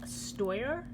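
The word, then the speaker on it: Steuer: Okay, so the next reed that I'm going to show you guys is I believe it's pronounced Stoyar, and these are the exclusives.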